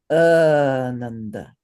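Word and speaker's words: ānanda: And basically, we want to hold the first syllable for two beats and the second syllable for one beat and the third syllable for one beat.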